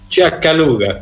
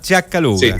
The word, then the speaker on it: Sciaccaluga: Ciacaluga, ¿estaba bien pronunciado, no? Ciacaluga. Ciacaluga. Ya, o sea, hay que poner el acento. ¿Ah? Ciacaluga.